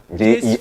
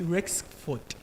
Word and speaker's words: Rexford: Jexford. Can you spell? Jexford. Spell it. Jexford. That's sir. Say, am I pronounced well? Please no. It's Rexford. Rexford. Rexford.